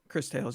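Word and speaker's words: Cris Tales: Uh, Chris Tales, that's how it's pronounced, right? Chris Tales? Chris Tales, yeah.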